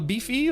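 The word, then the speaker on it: BiFi: Isst du gern beefy or Bi-Fi? How's it pronounced? How do you say? Beefy. I would like to eat it. It's spelled beefy. Oh, okay, gotcha. So it is kind of beefy.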